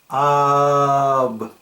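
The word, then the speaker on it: אב: And as I would pronounce this in Hebrew or Canaanite, it would be ab.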